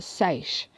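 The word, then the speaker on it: seiche: have witnessed a small-scale sorry it's pronounced safe but on a much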